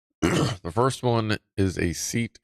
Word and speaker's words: SEAT: cheaper Beamers at nowadays seat is pronounced seat oh okay it's a seat the turn signals work